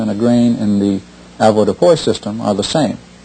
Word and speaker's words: avoirdupois: Most everyone's familiar with the avoirdupois system. Avoirdupois, or avoirdupois, however you choose to pronounce it, comes from the French, and it means to have weight.